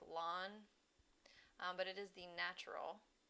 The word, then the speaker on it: ln: natural logarithm this is you often just hear it pronounced like lawn but it is the